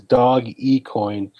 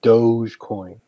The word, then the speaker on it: Dogecoin: I agree with you in the pronunciation it is dog equine it's not doge coin Wow yeah I agree